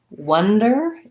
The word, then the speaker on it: wonder: i was caught wandering wonder is a vowel schwa sounds like uh so some wonder or